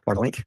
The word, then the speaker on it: Bartlink: Bartlink. Good morning. Am I saying that correctly? It's Bartlink? You pronounced it perfectly.